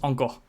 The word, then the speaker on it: Anchor: Ça se prononce encore.